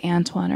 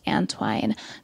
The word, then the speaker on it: Antoine: long antwine I hope I didn't say Antwon earlier that's how it's spelled but it's pronounced antwine antwine is a mixed race Okanagan tribal